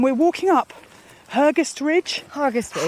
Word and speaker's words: Hergest Ridge: Hergest Ridge, it's pronounced locally, that's right, but it is spelled H-E-R, and it's part of Offa's Dyke.